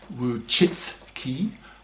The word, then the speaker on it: Wojcicki: sites such as YouTube, whose CEO, Susan Wojcicki, pronounced Wojcicki, is the most hated woman in the manosphere,